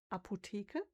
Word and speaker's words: Apotheke: We have the word Apotheke, and then we ignore the H for reasons I don't know why, but we don't pronounce it.